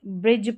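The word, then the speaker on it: bridge: यहाँ पर देखिए डी और जी के कॉम्बिनेशन में डी साइलेंट है। एज पढ़ेंगे, ब्रिज पढ़ेंगे, जज पढ़ेंगे, जज पढ़ेंगे, डी साइलेंट है इन स्पेलिंग्स में।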